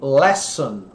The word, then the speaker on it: lesson: linha que é lexan que o brasileiro tem a tendência de pronunciar lição então fica mistura as duas palavras só lesam e aqui lesson esse aqui é o